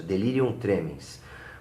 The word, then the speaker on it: delirium tremens: Essa é a pronúncia, delirium tremens.